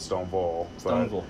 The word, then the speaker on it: Stoneville: being from you know Stoneville where's that it's well we actually pronounce it stone ball it's 30 miles north